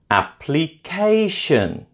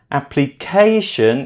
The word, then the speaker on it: application: Application. Application is stressed on the third syllable.